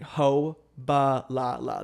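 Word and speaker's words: Hô-bá-lá-lá: It's like Ho Ba La La.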